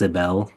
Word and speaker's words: Sybil: It's spelled like Sybil, but it's pronounced Sibel.